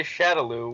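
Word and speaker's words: Shadaloo: Do we know how it's pronounced? Well, I guess the games still say Shadowloo, which...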